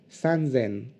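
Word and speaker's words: 三千: rock attention deux petites exceptions encore 3000 se prononce ce and zen et 8000 se prononcent race selle ok les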